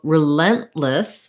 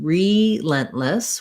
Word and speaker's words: relentless: So relentless has stress on the lent syllable. The RE is, rather than being relentless, we're going to have a reduced vowel here for the letter E. So it's going to be more of an I vowel, relentless.